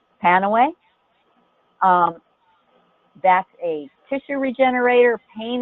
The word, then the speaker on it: Panaway: It's spelled P-A-N-A-W-A-Y, because the FDA doesn't allow you to say Pain Away, because that's a claim.